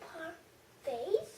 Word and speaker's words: parfaits: oh, mango parfaits. Yeah, it's pronounced parfaits. It's a French word.